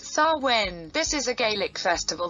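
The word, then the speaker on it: Samhain: ones in heaven also benefit from the ceremony pronounced sarwin this is a gaelic festival that usually begins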